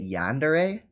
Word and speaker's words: Yandere: of the project but that's how you say it yandere I've always said it